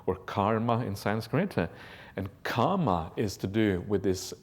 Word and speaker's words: kama: There's a slight difference in pronunciation that is often missed by people who don't have an Indian background. The kamma is a double M, and it's pronounced as if kamma twice. Kama is a long A sound, and it's different.